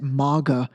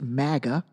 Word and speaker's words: MAGA: these first of all anyone who pronounces it MAA you don't even you obiously don't even know it well enough to pronounce it correctly it's pronounced Maga but anyway he took